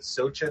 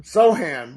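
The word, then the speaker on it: Sochan: How do you pronounce it? Sochin or Sohan? Sohan, but I honestly didn't know how to pronounce it until tonight.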